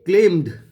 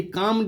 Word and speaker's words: calmed: They ক্লেমড, they কামড a little, CALMED, এটা কামড উচ্চারণ করবে।